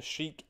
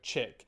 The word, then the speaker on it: Chic: So yeah, things took a pretty sudden and dire turn in the Chic, I actually think it's pronounced Chick, in the Chic sounds better, no, Chick storyline.